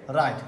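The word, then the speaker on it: write: রাইট।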